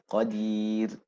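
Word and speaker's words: قدير: So it becomes also a tarqiq pronunciation, right? So these are the two examples. Khair, khair, khair, right? Qadir, qadir. Inna Allah ala kulli shay'in qadir. Right? So you end qadir.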